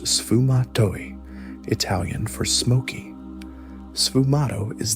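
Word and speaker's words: sfumato: Pronounced sufumatoi Italian for smokey.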